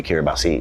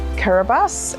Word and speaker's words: Kiribati: First of all, many people don't know where Kiribati is, and of course it's spelt Kiribati, but the TI is actually an S.